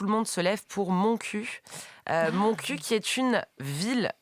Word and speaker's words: Montcuq: Se prononce en réalité Montcuq.